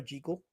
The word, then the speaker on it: Jekyll: And I kind of figure that when I look at these pictures, this is Spencer Tracy from Dr. Jackekal or Jekal down to Mr.